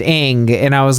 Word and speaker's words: Ng: so because her name if you spell it it's celeste ng and then celeste ng's twitter handle is pronounced ing and i was like